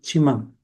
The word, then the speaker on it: Tsimane: Una de esas naciones es la del pueblo Chimán. Se escribe simane y se pronuncia chimán.